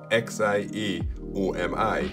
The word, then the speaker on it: Xiaomi: as said by google the official pronunciation of x-i-a-o-m-i is xiaomi but i'm from the